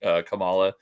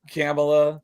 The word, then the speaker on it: Kamala: Is it Kamala? It's supposedly Kamala, but I say Kamala.